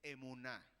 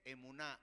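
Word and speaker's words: אמונה: La palabra fe en hebreo es emuná. Así se dice emuná y así se escribe.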